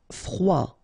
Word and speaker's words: froid: Froid. Final day not pronounced froid commun OK un commun commun commun